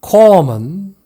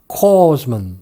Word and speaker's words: corpsman: corpsman, 위생병, hospital corpsman 이란 뜻인데 S를 발음하지 않는 그런 영어 원어민도 있고 발음을 하는 영어 원어민도 있습니다. 그래서 corpsman 이라고 해도 되고 corpsman 이라고 해도 됩니다.